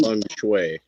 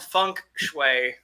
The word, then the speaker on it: feng shui: You mispronounced that. I think that with that it's called funk shui.